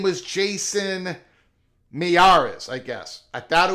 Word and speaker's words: Miyares: And finally, in this article of 2023, pronounced Miyares. I thought the MI was silent. Miyares? Okay, I'll call him Miyares, but I thought the MI was silent. I thought it was just Yaris.